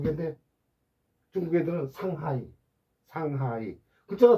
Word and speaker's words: 상하이: 우리는 두 개인데 중국 애들은 상하이. 상하이. 글자가 두 개인데 음절은 세 개입니다. 모택동, 마오쩌둥. 뭐 발음은 못합니다.